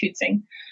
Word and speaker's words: Huitsing: way is spelled h-u-i-t-s-i-n-g so who it sing pronounced hootsing um and i will have a website